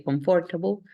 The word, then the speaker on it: comfortable: In this word, it's like M doesn't exist. So comfortable, okay? Sometimes we get confused to say comfortable, but then actually the right way to say is comfortable.